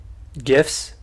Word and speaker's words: GIF: People say GIFs, I say GIFs. Oh, Because yeah. I read the creator's comments on that, Uh-huh. and he's like, it's pronounced like the peanut butter.